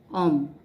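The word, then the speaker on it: homme: Okay, now I told you that mostly in French H is silent, so it will be considered, if you remember mute H, it will be considered as a vowel.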